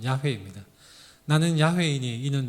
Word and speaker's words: 야훼: 원래 자음만이 기록되던 이 야훼 철자를 아도나이의 모음을 붙여서 발음으로 만든 것입니다. 그래서 정확한 발음은 야훼입니다. 나는 야훼이니 이는 내 이름이라.